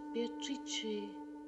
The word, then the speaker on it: Beatrice: It is pronounced Beatrice in Italian, which makes it very beautiful.